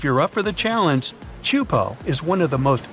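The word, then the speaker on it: Teahupo'o: It's pronounced Chupo, and it means broken skulls in Tahesian. Yeah, you heard that right, broken skulls. The waves at Chupo are massive and can reach up to 23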